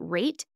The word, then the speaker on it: R8: is called rate and it's actually our R8 is the the way the app is written so it's R8 but you pronounce it rate and have you ever